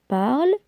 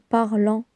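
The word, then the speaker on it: parlent: Elle parle ENT. Attention les enfants, la terminaison ENT se prononce E. Il parle. Elle parle. On ne dit pas il parlant ou bien elle parlant.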